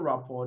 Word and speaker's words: rapport: And in the word rapport, the letter R and letter T are both not pronounced. They are silent.